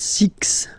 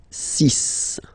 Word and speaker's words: six: Sun Sun s and be careful here because even if it's ending with this x well you'll have to pronounce it like s okay so you get the sis pronunciation s sis okay so it's not six it's sis all right then here remember